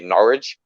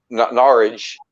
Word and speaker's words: Norwich: that it was just you didn't um pronounce the w yeah you kind of leave the w out but it depends where